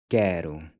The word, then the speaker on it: quero: And finally, the QU will sound like the C in Bianca. Quero.